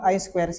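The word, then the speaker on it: I²C: tiga kali tadi baik lanjut ya Apa itu I squ modul Jadi jangan sampai diketawakan seperti saya ya saya dulu diketawakan gara-gara bacanya sudah Bahasa Inggris padahal ya ya Tapi tetap salah karena bacanya sikir saya Harusnya i squ itu kan kan i-nya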